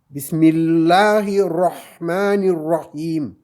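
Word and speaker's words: بسم الله الرحمن الرحيم: Le Ra, normalement on dit Ra, mais quand on lit le Coran, c'est presque un O. Ra. On ne dit pas Ra, on dit Ra. Bismillahirrahmanirrahim. On ne dit pas Bismillahirrahmanirrahim. Non, c'est pas bon. Bismillahirrahmanirrahim. Presque comme un O.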